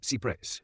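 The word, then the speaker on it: cy-près: Esta estafa ocurre a través de una antigua doctrina del derecho fiduciario llamada cypress, pronunciado cypre. Deriva de una frase francesa que significa lo más cerca posible.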